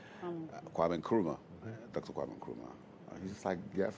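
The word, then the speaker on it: Nkrumah: ideals and principles of uh the late Kruma. Dr.Wam Kruma he's how do you pronounce that Dr.Wam Kuruma and uh it's nice uh talks about panafricanism,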